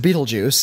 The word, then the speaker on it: Betelgeuse: beetlejuice geu ceme ete oh yeah which is pronounced Betelgeuse and so and there's a there's a star